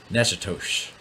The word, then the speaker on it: Natchitoches: Natchitoches. This is what I understand that city to be pronounced as in Louisiana.